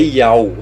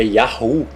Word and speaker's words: Yahu: Lembre-se sempre, porque esse rei tem som de H, não é Yau, é Yahu.